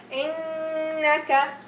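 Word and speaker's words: إنك: So I'm gonna pronounce it with the ghunna, 2 haraka, innaka, innaka, and so on. Feel it coming from your nose, okay?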